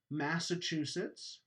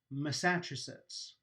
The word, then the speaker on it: Massachusetts: more prominent than another for example massachusetts versus massachusetts the only difference between those two pronunciations is where i am placing my stresses most words have at